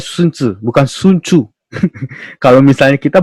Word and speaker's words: Sun Tzu: Ya, bacanya Sun Tzu, bukan Sun Tzu. Kalau misalnya kita bacanya Sun Tzu, ya.